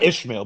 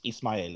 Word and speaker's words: Ismael: Not Ishmael, but Ismael is how you pronounce it in Spanish.